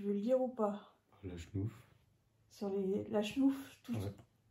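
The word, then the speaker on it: Lachnouf: La chenouf.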